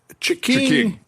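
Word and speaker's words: Ch'King: Chiking. It's the Chiking. Yeah. Is it like a cash register, like cha-ching? Yeah, you could say it like that, exactly.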